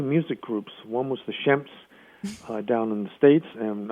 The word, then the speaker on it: Shemp: long time to realize that his name is Shemp not shrimp but then I found out that the shrimp name is a mispronunciation well he was was born was he